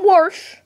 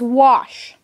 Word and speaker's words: wash: It's not Warsh, it's not Warsher, it is wash. There never has been and never will be an R in the word wash.